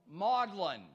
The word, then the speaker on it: Magdalen: files we have here who knows how to pronounce the name of that college at Oxford yes ma'am modlin modlin College because I kept hearing